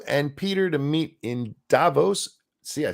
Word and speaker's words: Davos: I've set up you and Peter to meet in Davos.